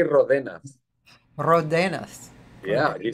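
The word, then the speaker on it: Ródenas: Oh, I understand that the R letter, it's very difficult to pronounce for Anglo-Saxons, so I don't really care, you know what I mean.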